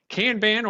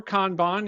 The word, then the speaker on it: kanban: be your introduction to kanban or kanban either pronunciation is acceptable but you will see